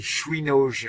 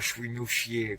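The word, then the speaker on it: Świnoujście: Bon, alors c'est Chouinauge la prononciation, et non pas Chouinouchier comme je disais.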